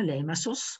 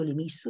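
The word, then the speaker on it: Limassol: Non so se lo sapete, c'è una piccola cittadina, Limassos, o Limassos, o Limisso, dipende da come uno poi vuole pronunciare, in italiano la chiamiamo Limisso, che è una cittadina che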